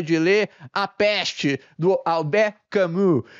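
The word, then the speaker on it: Albert Camus: livro A peste dele alber camu certo se é que minha pronúncia fez algum sentido Espero que sim alber camu ok e enfim um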